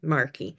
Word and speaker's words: Markey: who truly understands the power of connection, Marky. And, I hope I pronounced your last name correctly.